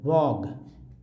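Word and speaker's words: vogue: Next word है दोस्तों वॉग। वॉग means होता है, वॉग मीन्स होता है, कुछ लोग वॉग्यू पढ़ देते हैं, गलत उच्चारण है, उच्चारण पढ़ना है वॉग, कंफ्यूज नहीं होना है।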